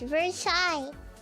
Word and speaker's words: Versailles: Versailles is pronounced as Vers Versailles.